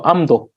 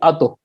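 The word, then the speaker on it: ཨ་མདོ: So amdo. Otherwise, it will be ado. And you see that ado is not a very smooth transition.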